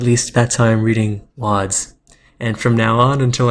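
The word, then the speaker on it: Łódź: chat Fred BGC informs me that LS is pronounced wads at least that's why I'm reading wads and from now on until I'm corrected again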